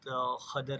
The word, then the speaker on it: Khidr: So in Surah Kahf, Allah subhanahu wa ta'ala talks about Musa alayhi salam when he meet with Khadr alayhi salam, or pronounced as Khidr alayhi salam.